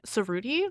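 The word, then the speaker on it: Cerruti: And so the one suit company, Serudi, that's pronounced right.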